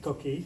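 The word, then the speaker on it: coquí: My favorite picture is over there with the coquille, is it pronounced? Coquille, yes, Yeah.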